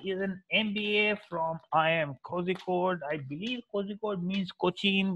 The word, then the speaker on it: Kozhikode: ये क्या अंग्रेजों वाली pronunciation है? Please learn how to say Kozhikode.